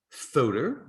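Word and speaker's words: Fuder: the week the filter so that is pronounced photo and they are very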